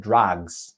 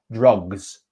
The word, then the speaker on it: drugs: okay and you said instead of drugs drugs you said drugs it's an ah sound so it's uh drugs drugs okay so two small